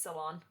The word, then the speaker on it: Ceylon: Is that how you pronounce that? Salon. It's salon. Ceylon.